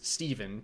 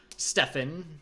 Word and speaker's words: Stephen: mentioned before uh and it's pronounced as it sounds Steven D Comics not Stefan not Steven spelled with the v um I've been getting